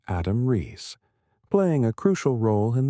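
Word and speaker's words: Adam Riess: at the Australian National University, with Adam Rees, pronounced Adam Rees, playing a crucial role in the data analysis.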